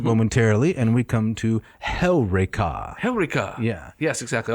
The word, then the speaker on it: Heureka: Although most people would say Eureka. Eureka. They would put the emphasis on the penult. On the wrong syllable. That's right. Yes. It goes on Heureka.